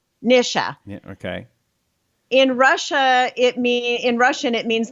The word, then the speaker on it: Nisha: hello welcome it is the mr show the nisha show by the way you know what